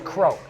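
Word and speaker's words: Crough: And lets me clear up anyone from outside Peterborough, when they see C-R-O-U-G-H, they have no clue how to say it. No. It's Croak.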